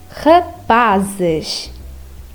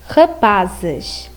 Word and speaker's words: rapaz: like zebra, zebra, or rapazes, rapazes. Now, when the letter Z is at the end of a phrase, it has a sh sound, like rapaz, rapaz.